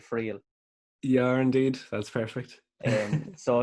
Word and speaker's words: Friel: Am I pronouncing that right, Friel?